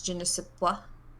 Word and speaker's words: je ne sais quoi: Can I just correct that it's je ne sais quoi?